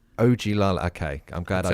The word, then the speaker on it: Ogilala: Can you tell me what it's called, how to pronounce it? Ogilala. Ogilala.